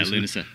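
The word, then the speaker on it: Lúnasa: That's how you pronounce it? Yeah, Lunasa.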